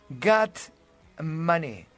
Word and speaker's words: Getsemaní: La palabra viene del arameo, no es una palabra griega, no es una palabra hebrea, es un arameo del tiempo del Señor y su pronunciación es Gat-mané, que significa prensa de aceite.